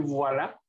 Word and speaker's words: voilà: ¿Alguien sabe qué quiere decir voilà? ¿No? Ay, todos se los tengo que enseñar yo, caray. Se escribe con B de vaca, V-O-I-L-A. Escríbalo. V-O-I-L-A. Y se pronuncia voilà.